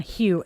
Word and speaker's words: Hugh: name their future son Hugh. H U G H. He's like, "Mom, she would kill me." Because Hu Gh, those are all silent letters in French.